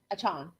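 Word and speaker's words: Achane: tennis ball in your mouth did I Devon achon okay all right so but just leave your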